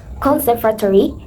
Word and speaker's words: conservatory: Conservatory needs stress on the second syllable.